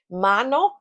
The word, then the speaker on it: mano: Mano m a n o.